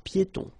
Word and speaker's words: piétons: Final S here, not pronounced, and then final E, not pronounced. Un passage pour piétons.